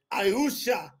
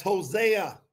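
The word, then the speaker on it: Hoshea: spoken through the prophet ausha that's Hosea that's the real way you say Hosea through the prophet ausha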